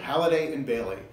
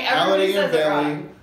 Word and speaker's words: Halliday+Baillie: Halliday+Baillie. That is the correct pronunciation. It is, you're right. Halliday+Baillie.